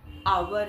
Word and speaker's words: hour: लेकिन एक दो जगह हैं, जैसे कि आवर है, HOUR, आवर, तो उसमें एच साइलेंट रहता है, तो आवर हो गया।